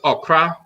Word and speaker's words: okra: It's on the male side is okra, just like the food okra. Oh, okra. Okay. OKRA. Yes. And on the feminine side, it can be OKRAA. There's different variants, but okra on the male side, okra on the female side.